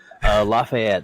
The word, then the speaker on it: Lafayette: Lafayette.